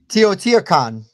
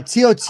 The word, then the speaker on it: Teotihuacan: Teotihuacan.